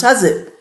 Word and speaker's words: housewife: You say, I'm a hazif, housewife, pronounced hazif.